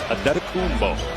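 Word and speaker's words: Antetokounmpo: Pronunciation guide in the Milwaukee game notes. It is Adetokumbo.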